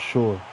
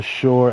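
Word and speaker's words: Shure: I think it's pronounced Shore. S H U R E.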